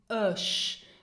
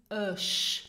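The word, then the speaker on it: ech: Now, euch means I, and pronounce it euch. Now, not ich or or erg. No, it's euch. Now the CH is very soft.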